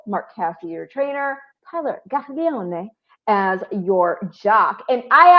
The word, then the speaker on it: Gaglione: And I actually, for those who are wondering why I'm saying it that way, that's how his name's actually pronounced. It is. I checked with him. I confirmed with him.